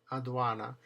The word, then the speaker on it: aduana: So, when the d is in the middle of the word, surrounded on both sides by a vowel, it's pronounced the. First word. Adequo. That's a good example of both. Deo deo. And the last word, adana. Aduana.